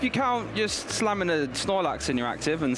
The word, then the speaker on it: Snorlax: has realized how amazing Snorlax is he he's not great with the pronunciation it's nolax but in our house